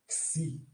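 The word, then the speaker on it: ξῖ: Xi, como na pronúncia de táxi. Táxi. Se vocês eliminarem esse tá aqui, ó, essa sílaba aqui, deixar só isso aqui, é o nome da letra.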